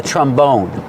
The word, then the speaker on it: trombone: And this is called a trombone. Put the stress on the second syllable.